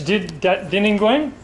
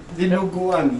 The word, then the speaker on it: Dinuguan: Dininguang? Huh? Is that, how do you say the dish? Dininguang? Dinuguan. Dinuguan. Yeah.